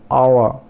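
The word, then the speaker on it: hour: फिर आवर, आवर, are silent मतलब आर को हम प्रोनाउंस नहीं करेंगे, और जो पहला एच है उसको भी साइलेंट रखेंगे।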